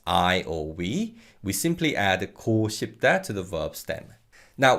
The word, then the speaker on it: 고 싶다: or we simply add 고 싶다 to the verb stem. Now, one thing to add regarding pronunciation is that this 고 in 고 싶다 can be pronounced as 구 in natural fast speech.